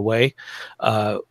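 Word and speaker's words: Huế: and they're not only or hugh depending upon how you want to pronounce it where a lot of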